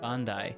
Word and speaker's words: Bandai: Bandai, actually, if you're pronouncing it entirely correctly. And if we're typing that out in Japanese... Whoa. Bandai-san. That's the one. Yeah, it is Bandai, like the video game company, like Namco Bandai.